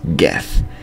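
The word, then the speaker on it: geth: how to pronounce GE it's Tali and she pronounces it GE so it's GE not g sounds like your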